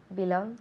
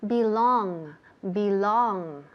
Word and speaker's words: belong: So, remember the pronunciation, la pronunciación, fijaos bien, belong. And also, resist the temptation de decir belong. Ok, ese sonido que nos encanta decir en español, que queda muy bonito, pero en inglés, no, está prohibido ese sonido en inglés.